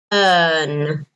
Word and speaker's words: earn: no this one okay earn earn right notice the pronunciation like learn earn to earn money okay